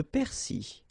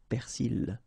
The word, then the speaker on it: persil: Le persil. In some cases you can hear persil, okay, but normally it should be le persil.